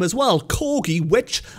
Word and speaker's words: cor: The word ki mutated to gi, and it is the same with corgi.